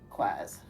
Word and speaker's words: Quasit: that's when we meet our friends is it pronounced quaz quaz yes quaz okay um yeah he just comes along um